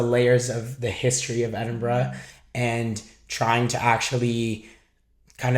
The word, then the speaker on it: Edinburgh: Edinburgh is how it's pronounced, not Edinburgh, which a lot of people think.